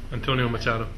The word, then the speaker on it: Antonio Machado: Antonio Machado.